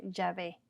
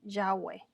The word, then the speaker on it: Yahweh: y e vav he en español se escribe y se pronuncia jaave y a vv e en inglés se pronuncia también yahwe con w y a veces lo